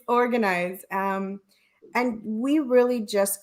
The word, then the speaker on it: Organ Eyes: are doing within the organize everybody everybody mispronounces it they think I'm selling organs it's organized um and we really